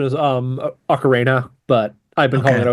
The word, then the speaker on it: Ocarina: I'm also not sure how to do the Ocarina versus Ocarnia. I'm The actual pronunciation is Ocarina, but I've been calling okay.